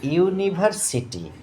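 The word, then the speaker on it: university: কিন্তু এবার দেখো কি আসছে, এখানে ওয়ার্ডটা লেখা আছে যে ইউনিভার্সিটি। আমি কালারটা চেঞ্জ করব, ইউনিভার্সিটি কেমন। তাহলে এই ইউনিভার্সিটি ওয়ার্ডটা এখানে বাংলা উচ্চারণ দেওয়া আছে, এই কথার মানে হচ্ছে বিশ্ববিদ্যালয়।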